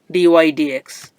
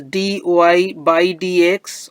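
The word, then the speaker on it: dy/dx: y with respect to X is this one Dy DX so this is the derivative of the function y with respect to X Liv notation dydx this is pronounced as Dy by DX or briefly Dy DX we should not call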